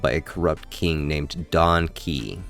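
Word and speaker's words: Don Kee: We learn that the planet is being ruled by a corrupt king named Donkey Ki. Yes, pronounced like donkey, which it took me far too long to realize, who taxes his people into becoming con artists just to survive.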